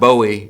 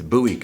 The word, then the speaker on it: Bowie: It's not Bowie. It's Buouie County.